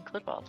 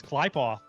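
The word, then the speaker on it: Qlippoth: Apparently I was pronouncing clipoth wrong. I mean myself. It's klyoth apparently.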